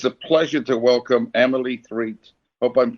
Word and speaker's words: Threatt: So it's a pleasure to welcome Emily Threatt, hope I'm pronouncing it correctly, to today's show. Welcome. Thank you very much for having me. And it's Threat, not Threatt. Threat.